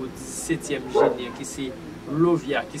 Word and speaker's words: Lauviah: Nous comptons pour le 17e génie qui c'est Lovia qui s'écrit L-A-U-V-I-A-H.